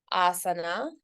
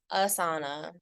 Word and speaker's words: asana: all right so we talked about Asana it's not aana we talked about chakra